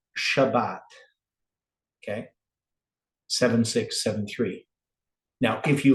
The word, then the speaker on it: Shabbat: And then if it has a dot in the center, that means you double the B in your pronounce Shabbat, right? It's still going to sound the same, Shabbat, but it's pointed differently than 7673, right?